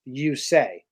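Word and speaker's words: Yusei: You didn't listen to the radio, but I didn't realize his first name is pronounced "you-say." You-say.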